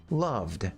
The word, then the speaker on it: loved: It's a simple D sound at the end. If you go love, you can tell that it's voiced. Loved, Loved. planned. Loved. No. See how it's voiced?